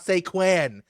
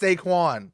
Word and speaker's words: Saquon: It's with an O, not an A. It's not Saquon. It's Saquon.